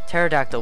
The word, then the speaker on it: pterodactyl: pterodactyl there's no well you don't pronounce the P pterodactyl will you find it